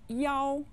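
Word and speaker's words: 幺: note about telephone numbers many chinese people say the number one as yaou when given a telephone number yao is used to be clear because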